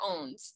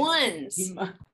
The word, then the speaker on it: ONS: Is it ONS or OWNS? ONS. Thanks. ONS.